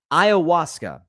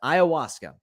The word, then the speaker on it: ayahuasca: The drug of choice is called, I hope I'm pronouncing this correctly, ayahuasca. I think that's how you pronounce it, ayahuasca.